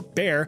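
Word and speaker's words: Bayer: BA or more commonly pronounced buyer or bear decided to take a stab in the lab to produce something fab.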